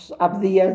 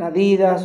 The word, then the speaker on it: Abdías: a pronunciar bien los libros, así como los pronuncie, así los va a decir. Había hermanos que cuando decían Abdías decían Adidas, o cuando decían Deuteronomio decían otras Deuteronomio, o